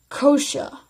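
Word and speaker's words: Xhosa: well as the guini you only in Guney spell it ng you and I languages such as Zulu and kosha spell X H OS a among the South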